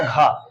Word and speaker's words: ghee: अभी इसका दूसरा भी उदाहरण और देख लें, GHEE, इसको घी पढ़ते हैं, सबको मालूम होगा घी, स्पेलिंग है GHEE।